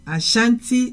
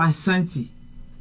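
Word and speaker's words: Asante: very important okay so now let's go to Asanti or aanti very very important um in English I think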